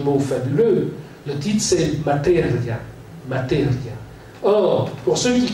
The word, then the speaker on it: materia: Mais si l'italien est une langue rythmée, si on regarde le mot materia, on peut... Ça, c'est la manière dont les Italiens le prononcent. Mais si on met l'accent tonique sur le i, on va dire materia.